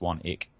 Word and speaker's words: Swanwick: SWA and WIC k so it's spelled swanwick even though it's pronounced one eek what's good well again